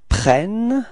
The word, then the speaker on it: prennent: ils prennent, okay, so you can notice that the first E of prennent is pronounced like eh, eh, and the reason for that is that you've got a double N after that, so it changes the pronunciation of the E, okay?